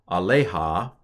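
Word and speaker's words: עָלֶיהָ: In this kind of situation, the accent is on the aleha. So the second to last syllable gets the accent in this particular case.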